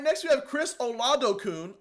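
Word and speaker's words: Oladokun: next we have Chris ol Adon I looked it up that's how you pronounce it he originally went to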